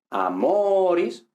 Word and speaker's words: amoris: Entonces, si la penúltima sílaba es larga, la palabra es llana. Es decir, si es larga, tiene el acento en esa sílaba. Ahora, si es breve, no tiene el acento en esa sílaba, sino en la anterior. Por eso decimos amoris, pero decimos milites.